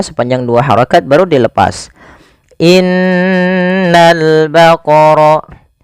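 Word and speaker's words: إِنَّ الْبَقَرَ: dua harakat baru dilepas Innal baqor pada alif lam di sini lamnya ditampakkan dengan jelas ini bukan innaul baqar tapi langsung ke lam alifnya dianggap tidak ada langsung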